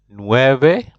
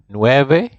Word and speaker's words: nueve: Ocho Ocho nine is nueve Nueve and even that line you know in Spanish V there's some people who pronounce it like a b so you might hear